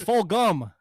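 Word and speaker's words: Fulgham: what about those travis fulgin weeks stop saying jump it's full gum you get it right you guys keep say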